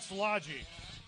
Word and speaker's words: Szilagyi: How do you say your first name there? It's called Szilagyi.